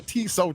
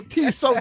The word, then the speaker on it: Tso: I know it's General So chicken.